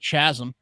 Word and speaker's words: chasm: due to the giant chasm, and check in on how the Kenyans are doing. Chasm. Chasm. Chasm. I Chasm. think it's a silent H on that one.